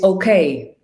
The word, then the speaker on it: Ok: And the glacier's name is OK, like literally. Mhm. And it's pronounced in Icelandic ok.